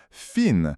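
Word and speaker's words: فين: Fin, c'est prononcé fin avec le i long.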